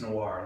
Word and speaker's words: Nawar: them your names Mike my name is Noir like uh Pino Noir or fil Noir but that's not how you spell it all that's what it's